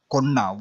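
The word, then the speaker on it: కొన్న: This is konina, but usually we say konna. We add, like we combine these two letters with single pronunciation, like na. We stress, we don't say separately. Ko ni na becomes konna.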